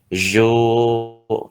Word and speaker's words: jouent: Contohnya ini les enfants jouent, ya joue, ini bacanya joue bukan jouent.